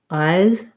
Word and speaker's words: eyes: Eyes, I have a weak S or a Z and a long vowel.